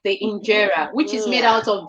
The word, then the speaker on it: injera: I want you to spell injera for me so I get the right spelling.